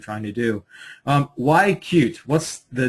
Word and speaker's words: cut-e: came up with the the name spelled c hyen e but we do pronounce ourselves as cute so to get things